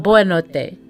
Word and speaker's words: boa noite: Okay, so not bom, but boa noite.